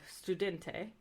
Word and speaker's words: studente: are there are workarounds s is usually pronounced like the snc but if it's between a vowel or before a voiced consonant it's said more like a z so like you have studente just pronounced like a